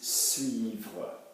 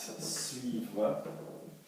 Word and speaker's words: suivre: Where would the first hard sound be in the word? It would be V.